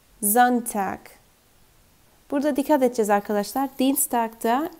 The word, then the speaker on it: Dienstag: Dienstag'da i-e görüyoruz ama bu uzun bir i olarak okunuyor ki. Dienstag diye. Dienstag.